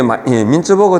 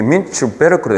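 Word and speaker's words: Mintzberg: 빙벽 할 때 그게 요 구텐베르 무슨 베르크 이렇게 이게 독일식 발음이에요. 얘가 민츠버그 할 때 이게 영어식으로 민츠버그라는데 이렇게 민츠베르크로 돼요.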